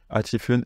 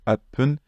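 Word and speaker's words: 八分: Pour 8 minutes, il y a 2 prononciations qui sont acceptées, achifun et apun.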